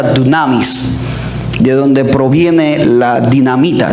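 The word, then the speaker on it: δύναμις: La palabra poder en el griego es una palabra que se pronuncia dunamis.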